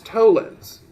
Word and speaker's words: tollens: Allen's Soto lens okay even though it's spelled weird it's tollens if you think about